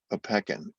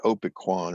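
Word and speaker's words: Opequon: so survey plot of how did you pronounce that a peckin okay every time i've seen those signs down there i always thought it was like opiquan or something you're from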